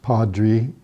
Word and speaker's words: Padri: Happy Valley Padri gave him his name, Padri, pronounced Padri, because of his stature and white clothes made him resemble a priest.